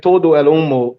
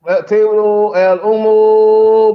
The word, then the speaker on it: todo el humo: I think Todo El Humo sounds better.